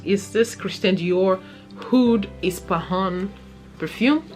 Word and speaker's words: Ispahan: this christine dior hood ispahun perfume did i pronounce it right it's ispahan yeah hood is pahan